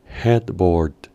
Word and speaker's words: headboard: palabra para esto es headboard headboard en esta palabra su pronunciación implica que las dos a que están redactadas al pronunciarse suenan mudas Head board headboard headboard